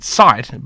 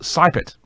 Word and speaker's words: Seibt: Her name is Naomi, I would pronounce it Seibt, but apparently it's pronounced Seibt. So there you go. Hopefully that's the right way to pronounce it.